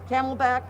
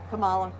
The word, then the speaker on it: Kamala: going to make the four years and the camelbak forget it the camelback who's that kamala oh wow that both mispronounced the name and uh xenophobic yeah absolutely